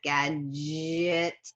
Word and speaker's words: gadget: That DG is making a j gadget, and you kind of begin your gadget on one syllable and continue it into the next one.